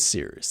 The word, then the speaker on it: Cyrus: My name is Seerus. It's spelled like Cyrus, but not like Sea Rooster. Just take out the ter.